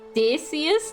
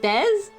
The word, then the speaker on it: Dacius: It's Dacius, not Des?